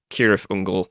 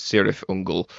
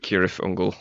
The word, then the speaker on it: Cirith Ungol: actually said it out loud I think tolkin pronounced it kirth ungal but the band pronounced it sirth unal correct yeah it's kirle I am a huge